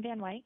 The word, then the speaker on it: Van Wyck: as you can hear they pronounce it and my condemn like like Dick Van Dyke at the dick part the dike part and my kin van